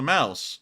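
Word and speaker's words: Maus: go this is the mouse uh which translates directly into English as the mouse you know it's spelled m-a-u-s in German but it's spelled as the mouse like the field mouse in English which is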